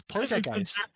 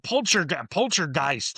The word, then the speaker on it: poltergeist: That's Poltergeist. Poltergeist, yeah, that's a German word. Yeah. But Americans are like, oh yeah, Poltergeist.